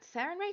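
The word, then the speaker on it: Sarenrae: Um, does Sarin Ray shine on you? Am I correct? Oh, well, hello there. Yeah, you want to say it like that. Sarin Ray shine on you.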